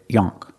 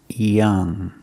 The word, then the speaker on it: young: We don't pronounce the word yonk. It's pronounced young. Use the short sound like cup and up.